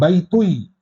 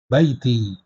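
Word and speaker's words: بيتي: tua rumahnya perempuan kemudian Baiti ya Disambung ke ya mutakallim ya bukan baitui ya tetapi Baiti Untuk meringankan pengucapan kalau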